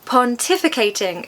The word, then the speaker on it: pontificating: Pontificating is a very advanced word. Okay, guys. It has five syllables. Quite a few. As with many long words, we're going to stress the second syllable.